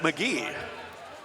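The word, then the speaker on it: Magui: spelled ma GUI but it's pronounced Magee like an Irish guy I guess he must be big and st.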